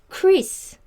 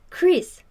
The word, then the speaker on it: Chris: For example, this CH is actually this in Korean, but this sound is ch, ch. But this sound is more like K, right?